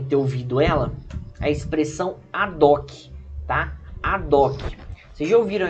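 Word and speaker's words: ad hoc: de ouviram essa expressão tem gente que muitas vezes preferem falar a de rock né mas o certo seria a doc porque o h é mudo tá tanto em latim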